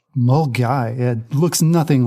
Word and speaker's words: Milngavie: I'm not going to say it right mil Milan migie and Fort William what is it correct me R we're really yeah we've we've definitely Scottish you here it's actually pronounced mgy mgy yeah looks nothing like that I'm gonna have